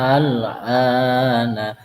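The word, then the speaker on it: الآن: Al-ana. A-nya dulu, alifnya dulu dibaca panjang, 6 harokat, kemudian baru huruf selanjutnya. Al-ana.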